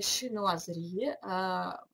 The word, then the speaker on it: шинуазри: И эта комната, она отделана в стиле шинуазри. Шинуазри – это псевдокитайский стиль, это по-французски французское произношение слова китайщина.